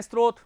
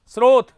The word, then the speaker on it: स्रोत: स्रोत। क्या बोलते हैं? तो बोलिए इसका विशुद्ध उच्चारण क्या होगा? बोलो सब लोग बोलो स्रोत।